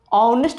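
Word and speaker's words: honest: ऑनेस्ट बोल रहे हैं, यहाँ एच साइलेंट है, ऑनेस्ट ओ से और ओ में आएगा, साउंड वोवेल है तो क्या हो जाएगा एन ऑनेस्ट मैन।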